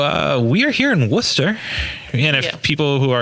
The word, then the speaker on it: Worcester: yep yep clearly yeah not lester worcester oh see at least i don't call it worchester okay yeah that's right